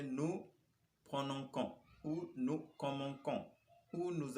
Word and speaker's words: prononçons: Mais à la première personne plurielle, il faut noter pour pouvoir prononcer ça comme nous prononçons, il nous faudra mettre yun cedi, à la lettre C. Donc, sans la cedi, ça va se prononcer nous prononçons ou nous commençons ou